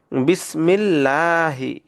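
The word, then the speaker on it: بسم الله: দেখুন এখানে আছে জের তাহলে এটাকে চিকন করে পড়বো বিসমিল্লাহ লাহি এটাকে লহি পড়া যাবে না কেউ যদি বিসমিল্লাহি পড়ে তাহলে সেটা ভুল হবে আলহামদু লিল্লাহি দেখুন এই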